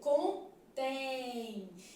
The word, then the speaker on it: contém: assim ó com tem olha como é que a gente lê contém Então esse M aqui ó ele tem som de semi vogal Mais especificamente tem som de i né contém por exemplo